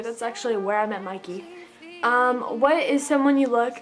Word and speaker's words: Mickey: Fusco, and he's tweeting, so I'm saying Mikey, but it's spelled Mickey, so. She asked, shout out to Mickey from Atlanta, so shout out to you, that's actually where I met Mikey.